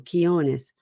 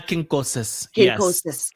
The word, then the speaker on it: Quincoces: Quinones. Anna Quincoces.